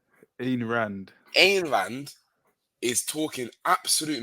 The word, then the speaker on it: Ayn Rand: Amy Rand? What do you say her name is? Ayn Rand.